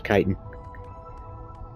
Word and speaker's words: chitin: I was wondering how to pronounce chitin. I was right. It was chitin.